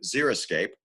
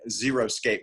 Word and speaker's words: xeriscape: word xeriscape but unfortunately so many people mispronounce it as i'm gonna go out and zero scape my yard well as you can see there's a zero zero scape on your screen and that's not the way to go either because